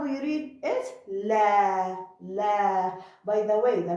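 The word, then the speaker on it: لا: Okay, so lam with fatha, la. After it alif, so it's long fatha, la.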